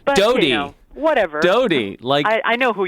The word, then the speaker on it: Doughty: Doughty. But, Doughty. Whatever. Doughty. I know who you're talking about. Like Princess Diana's boyfriend. Exactly. Yeah. Bread dough T-shirt is what I say.